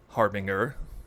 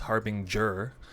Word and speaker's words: harbinger: word it is not harbinger which i've assumed it was it is harbinger apparently with a j sound so uh probably the